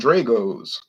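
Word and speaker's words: Drago's: i can only find dragos i say you mean dragos is pronounced drago drago satenovich but she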